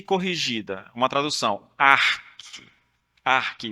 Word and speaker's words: ARC: ARC, o C é mudo.